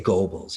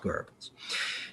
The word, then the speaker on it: Goebbels: was the propaganda minister of, people would say Goebbels. It's actually pronounced Goebbels.